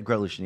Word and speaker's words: Grotelueschen: Sarah Siles and Andy Grotolution. Yeah. Did I say it correctly? Yeah, Grotolution, yeah.